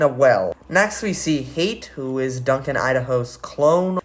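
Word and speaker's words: Hayt: a bit more angry, because his name is pronounced Hate, apparently.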